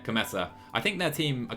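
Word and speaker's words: Kometa: Elio Cometa. That's not how you say it. Cometa.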